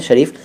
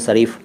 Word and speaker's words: शरीफ: शरीफ, इसको कई लोग शरीफ कहते हैं, शरीफ, लेकिन शरीफ सही उच्चारण है।